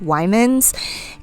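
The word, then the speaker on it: Weiman: It's by the brand, I believe it's pronounced Wyman's, and I'm using the leather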